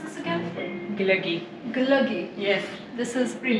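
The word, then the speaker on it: glögi: How do you pronounce this again? Glöggi.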